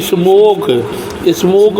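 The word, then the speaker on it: smoke: ए एस एम ओ के ई स्मोक means धुआं, तो स्मोक में लास्ट में ई आया है जिसका उच्चारण नहीं होता है।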